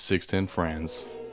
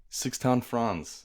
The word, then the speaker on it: Sixten Franz: Sixten Franz, like in an accent like that.